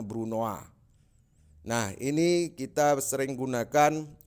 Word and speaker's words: brunoise: Jadi tulisannya brunoise, kita bacanya brunoise.